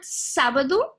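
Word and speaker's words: sábado: case you're gonna have a three syllable word sabado and you have the accentuation on the first syllable sir so it means that this is the one that gets that has the predominant tone so sad bird dude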